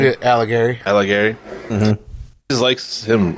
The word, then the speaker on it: Alighieri: Yeah, Alighieri.